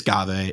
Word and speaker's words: Ghave: I think it's Ghave. I think the worst part is I think it's called Ghave, which is like I hate that. I've heard recently some people were like, yeah, no, unfortunately phonetically it's Ghave, and I was like, I'm sorry, I'm not playing Dave. Like, hey guys, I'm Dave.